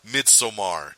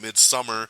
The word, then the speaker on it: Midsommar: But also sneaking in there is the new horror film Midsommar. So check that out. Some people are calling it Midsummer, so if the way I say it throws you off, it's because the director himself said no, the film